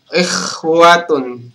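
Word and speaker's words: إخوة: Kemudian ikhwatun. Teman-teman menyebut kha dengan ha itu beda kan?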